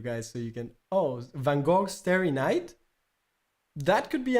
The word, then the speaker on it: Van Gogh: Supposedly it's pronounced also Van Gogh. It's not really Gog, how many people pronounce it.